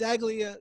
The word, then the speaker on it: Saglie: started his own games a glia show am I even pronouncing your last name correct exactly a Ceglie a that's it it makes it sound fancier between you and so